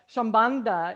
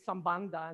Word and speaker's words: Sambandha: So I like to say Sambandha, and Madhuri's like, no, Sambandha.